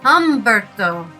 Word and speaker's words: Humberto: Not Humberto. Hberto. Humberto. The H is not pronounced.